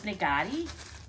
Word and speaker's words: Naghedi: it up like this and the company is nagari read that's how it's pronounced so they package this really nice here